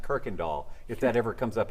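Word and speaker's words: Kuykendahl: up in North Houston it's pronounced Kirk and doll if that ever comes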